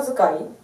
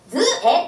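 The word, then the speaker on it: 図絵: 河内名所図解。バーカー、それは河内名所図絵、図絵って読むのよ、図絵。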